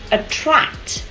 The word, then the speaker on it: attract: Next one, attract. Attract. Cô thấy có một số bạn đã đọc là attract rồi đấy. Thì thực tế âm này là âm tr. Mình cong lưỡi lên nha, thì giọng của mình